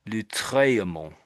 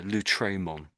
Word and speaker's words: Lautréamont: And I think he probably meant to say the A slightly louder. So Lautréamont, Lautréamont. I think that's how you pronounce that.